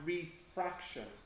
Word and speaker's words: refraction: and the same here you want to put the stress on the middle part because that's the difference so you have reflection and refraction you try Amanda what's